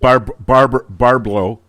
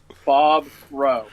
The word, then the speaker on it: Bobrow: Is that the right way to pronounce it? You did it. You did it right. Did I? Well, the first time it was yes. Barblow. As I've been rehearsing. Bobrow.